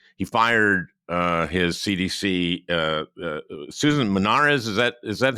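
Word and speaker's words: Monarez: He fired his CDC, Susan Menares. Is that how you pronounce her name?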